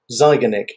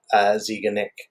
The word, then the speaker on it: Zeigarnik: today i'm talking about the zygonic effect or ziganik um depending on how you choose to pronounce it so yeah let's dive